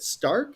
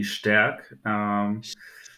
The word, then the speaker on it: Stärk: And is it Stark? Is that how you say it? It's actually Stärk.